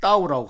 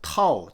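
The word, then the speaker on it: 道: 네, 먼저 이 돈은요, 중국어로 따오라고 하는데요. 영어에서는 이를 갖다가 좀 세게 발음해서 타오, T-A-O로 이렇게 보통 말을 합니다.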